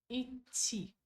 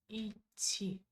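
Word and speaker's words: идти: Então, como que pronuncia esse verbo Iti. Iti. Você pode falar a letra I, fazer uma pequena pausa e continuar ti. Iti. Ou, né, também pode usar dois T, fica mais assim, bonito, né?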